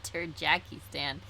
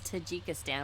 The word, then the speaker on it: Tajikistan: it was to tajikistan i said tahika you said turd jackie stan but no we ended up looking up i think it was tajikistan it was the proper pronunciation are you sure i